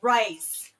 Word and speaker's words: rise: have to say the word rise with the Australian vowel, which is almost like the word rice.